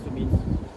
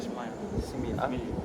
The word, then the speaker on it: simile: The pronunciation Sumi. Bukan smile.